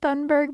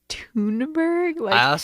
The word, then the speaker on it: Thunberg: And if anyone has heard of Greta Thunberg, I say Thunberg, but I think her name is actually pronounced Thunberg. She's Swedish, but Yeah.